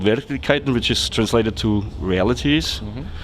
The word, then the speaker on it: Verkligheten: recently it's it's called their clique Katyn is it is it pronounced right it's good good it pays off that I'm in Stockholm more often than in Vienna yeah so it's called very Titan which is translated to